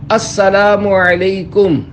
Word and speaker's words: السلام علیکم: لے۔ 11، سلام اور جواب سلام کا درست تلفظ یاد فرما لیجئے۔ پہلے میں کہتا ہوں، آپ سن کر دہرائیے۔ السلام علیکم۔ اب پہلے میں جواب سناتا ہوں، پھر آپ